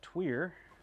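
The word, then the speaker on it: tuyere: with it uh let's see let's dial that tweer and again for those who've not been on the stream before and don't know what a tweer is it's a french word no really i'll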